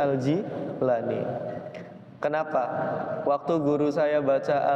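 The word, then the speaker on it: al-Jilani: nanti baca Syekh abdulir itu jangan dibaca aljailani tapi dibacanya aljilani Kenapa waktu guru saya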